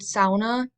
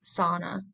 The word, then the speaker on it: sauna: so I'm going to be using the word sauna which is a finished pronunciation in American culture it's usually pronounced sauna so saunas were first invented in Finland over